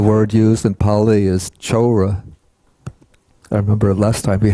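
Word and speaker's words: cora: The word used in Pali is chora. I remember last time we had some trouble with this. Let's see. The C in Pali, it's always pronounced like CH.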